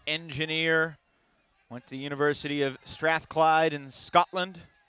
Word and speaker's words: Strathclyde: 30 year old engineer went to University of Strathclyde in Scotland not pronouncing that right Strathclyde yes that is correct